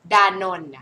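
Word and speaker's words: Danone: ดาน ดาน นะ คะ ดา แล้ว ก็ เสียง นนท ดานนท์ นะ คะ ดานนท์ มัน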